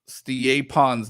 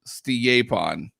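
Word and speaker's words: Stjepan: the first name, and he pronounced it Stiepon. So apparently that's how you say his first name is Stiepon.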